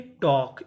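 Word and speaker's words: talk: टी ए एल के टॉक।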